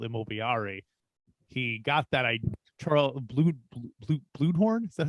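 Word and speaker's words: Bluhdorn: He got that Charles Bluedhorn. Is that how you say it? Bluedhorn, yeah.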